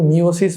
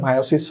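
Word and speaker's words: meiosis: এখানে কিন্তু মিওসিস বলা যাবে না, এটার উচ্চারণ মায়োসিস হবে। তোমরা 9-10-এ হয়তো বা মিওসিস দেখে আসতে পারো, বাট এখানে মায়োসিস হবে।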